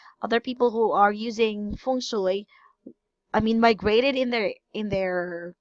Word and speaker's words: feng shui: Mandarin, like feng shui.